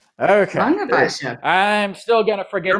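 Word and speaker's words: Langewiesche: I do know how to pronounce it. It's Langeweische. Langeweische. Okay. Langeweische.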